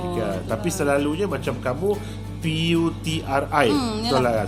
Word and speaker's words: Puteri: Tapi selalunya macam kamu P-U-T-R-I, betul lah kan? Selalu kat Malaysia ni dia P-U-T-E-R-I, dia Puteri macam tu. Kebanyakan tapi bacanya Putri lah. Putri macam tu lah.